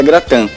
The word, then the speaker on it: gratin: francesa gratan tá ele se você escreve gratin é se escreve gratin mas pronuncia gratan porque o in esse último prefixo o in pronuncia an o an francês pronuncia an É isso aí e